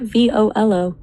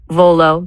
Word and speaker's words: Volo: What about V O L O? V O L dot. It's two syllables. It sounds like volunteer or velocity.